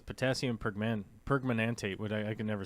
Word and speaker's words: permanganate: Let's see what the robot tells us how to say it. Potassium permanganate. Permanganate. Okay. I was just over glorifying it in my head, I guess.